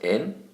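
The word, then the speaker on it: 円: like 100 yen the actual word yen is pronounced in so that usually comes at the end of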